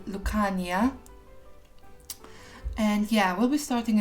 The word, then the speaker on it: Lucania: a basically made up name it should be pronounced lucania and yeah we'll be starting in tartosa this